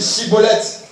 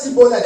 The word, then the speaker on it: Schibboleth: On leur disait, dites Chibolette. Oui. Et il disait Sibolette. Et il disait quoi? Cibolette. Oui. Car il ne pouvait pas bien prononcer.